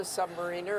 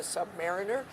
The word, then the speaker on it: submariner: As you said, he was a submariner, a submariner. They pronounce it either way, but he adored service in the Navy.